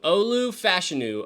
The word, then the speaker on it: Fashanu: say Olu Fu's name it's not fashanu I have to wait it is how do you say it fashu fashion fashion fashion fashion fashion fashion fashion fashion Olu fashion Olu fashu Olu fashu I'm trying to remember this so I say it right Olu fashion Olu fashion